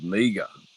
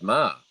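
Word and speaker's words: Meagher: is spelled m-e-a-g-h-e-r and he regularly gets called meaga so jack meaga so m-e-a-g-h-e-r and yet the pronunciation of it is ma and goes back to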